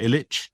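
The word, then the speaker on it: Ilitch: How do you say Illitch? Is that right? Illitch.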